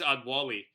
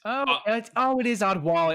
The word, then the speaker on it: Adewale: It's not how you say it, but that's how you spell it. Anyway. I think that's Adwali. It is Adwali.